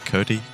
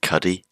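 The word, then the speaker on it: Cudi: Cudy. Cody. C. I've been informed it's pronounced Cuddy.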